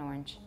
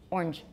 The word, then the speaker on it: orange: I'd like an orange. Orange. Orange. Orange. How many syllables do you hear?